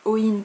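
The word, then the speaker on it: Eoin: Enfin Owen ça s'écrit E-O-I-N mais en gaélique on ne dit pas le E, donc Owen Colfer, que j'avais pas vraiment aimé.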